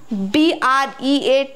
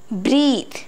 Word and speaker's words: breath: You might have got confused between breath, breath, and breathe, breathe.